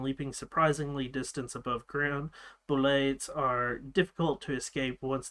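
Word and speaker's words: Bulette: It looks like a bullet, so like let's just add a French type accent to it and call it a boulet. And it is spelled B-U-L-E-T-T-E, but it is boulet, is the way that you're supposed to pronounce it.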